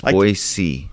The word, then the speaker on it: Boise: know it's a demon right demolition yeah it's boise boise but what you have in texas with